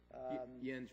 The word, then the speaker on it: Jens: yo Andy my name is Jen my first name is spelled Jake ENS the J is pronounced as